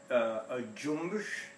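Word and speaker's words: cümbüş: This is a cumbus, and it's that's how you pronounce it in Turkish, and it's actually it's spelled cumbus, which it has.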